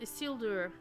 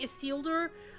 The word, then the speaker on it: Isildur: of his father alendal isildur see I keep saying is seeler like um like Hugo weaving did in the in the